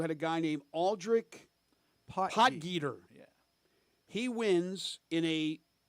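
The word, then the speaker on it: Potgieter: uh not it doesn't uh slide off the tongue pot and when you when you look how how it's spelled you you might not get potter out of that but the guy from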